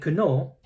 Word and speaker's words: know: Similarly, it's silent K. You don't say, I know, you say, I know.